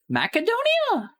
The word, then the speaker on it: Macedonia: I pronounce Macedonia with a K sound. Ma Macedonia Macedonia. Is that how you say that?